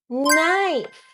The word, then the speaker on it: knife: When we put them together, K becomes silent like in knob. Knock me knee. No. Do you know how to pronunciate kn? Now I know. Night. Knife.